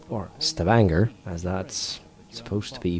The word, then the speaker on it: Stavanger: The Luftwaffe has established important airfields at Trondheim, Hurdla, Stavanger, or Stavanger, as that's supposed to be pronounced.